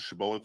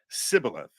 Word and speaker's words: Shibboleth: Oh, it's a Shibboleth thing. But the Ephraimites would pronounce it Sibboleth, with a shin instead of a sin divide, basically, to identify them.